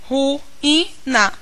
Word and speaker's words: ruína: vez somente uma referência em ruína Eu percebo que é a separação ruina eu tenho essa separação o que me possibilita também perceber que esta é a sílaba tônica notem para saber